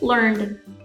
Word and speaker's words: learned: avoid this common mistake we also have words ending in n represent a voiced sound such as learned learned finally if the less